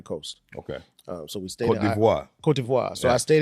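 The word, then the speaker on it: Côte d'Ivoire: He said pronounced it right. He said it right. Say that shit again, my nigga. Cote d'Ivoire.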